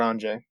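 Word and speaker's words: Anje: Because I saw something about Anjay. Yeah, Angie. I've seen so many people call it Anya. No. Yeah, it's Anya. There's a J in there, bud.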